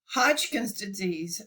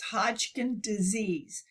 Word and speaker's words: Hodgkin disease: had been so sick Hodgkin's Disease Hodgkin and it's and we I always pronounce it with a plural but it's Hodgkin disease and the other name